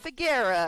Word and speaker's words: Faggera: You know, she said this morning that's how you pronounce her name. She goes, "Think Mama Mia, but Faggera."